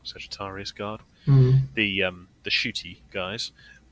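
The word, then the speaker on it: Sagittarum Guard: jumping around a bit too much but the sagitar guard I'm getting that name wrong Sagittarius guard the um the shooty guys their gun which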